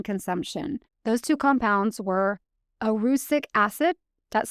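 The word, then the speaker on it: erucic: Those two compounds were arusic acid, that's spelled e r u cic, and glucosinylates.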